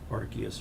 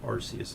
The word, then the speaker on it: Arceus: annoyed at first but went and looked up the actual pronunciation um and apparently it was uh the official one anyways is like Arceus or something but I still prefer to say RCS I just think it